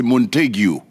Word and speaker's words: Montague: Et excusez la prononciation, j'ai dit Montag, c'est Montague.